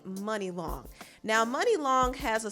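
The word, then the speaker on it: Munilong: name is money long it's actually spelled like mooney long m-u-n-i-l-o-n-g i used to think it was called mooney long but it's actually money long now money long has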